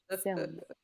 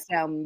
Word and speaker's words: Selma: I know I did say it like Salmon, bitch, But 'cause we I'm know you hungry.